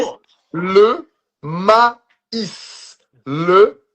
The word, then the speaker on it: maïs: So here you're gonna have two little points on top of the E that makes you pronounce the E. So every time you see those two little points on top of a letter in French, usually it's gonna be on the E. That's gonna make you pronounce that letter no matter where it is in the word.